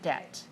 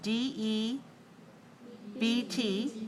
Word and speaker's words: debt: around an enormous sleep debt all right remember the word debt d e BT which letter is silent the B so we say debt sleep debt what does